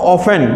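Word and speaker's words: often: इसके अलावा और अगला नेक्स्ट में आएगा हाउ ऑफ्टन या हाउ ऑफन, देखो ऑफ्टन का प्रोनाउंसिएशन दोनों होता है, ऑफ्टन भी होता है और ऑफन भी होता है।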